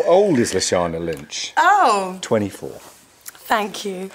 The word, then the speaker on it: Lashana: How to pronounce Lashana Lynch? Oh. Go on. Lashana. Lashana.